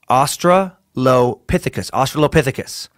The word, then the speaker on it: Australopithecus: First, long word is pronounced Australopithecus. Australopithecus.